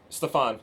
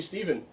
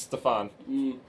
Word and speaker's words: Stefan: Well, my name's Stefan, and I say it like that too, because it's just in a panic type She deal. goes, I'm going to call you Steven. She's Irish. It's Stefan.